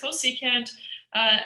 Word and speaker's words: cosecant: So CSC is cosecant, SEC is secant, and COT is cotangent.